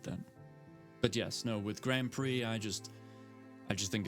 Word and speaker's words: Grand Prix: I know it's pronounced Grand Prix. I just like to say Grand Pricks.